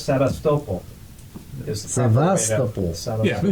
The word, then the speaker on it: Sevastopol: You know, like Sebastopol, Oh, that's why. Yeah. my Russian friend says, no, it's Sevastopol.